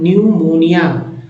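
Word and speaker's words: pneumonia: silent कर देते हैं तो न्यूमोनिया यहां भी पी साइलेंट कर देते हैं तो साइकोटिक इस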